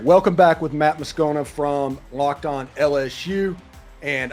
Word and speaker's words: Moscona: All right, welcome back with Matt Moscona from Locked On LSU. And I am going to get the pronunciation of your name correctly eventually.